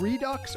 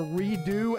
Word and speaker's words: Redux: We're going to do the second quest of Zelda 1 Redux or Redo as it's supposed to be pronounced, I guess.